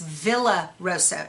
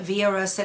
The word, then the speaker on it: Villa Rosa: So a lot of people call this Villa Rosa. It's V-I-L-L-A. In Spanish, that's pronounced Villa. Okay, so I call it Via Rosa Designs.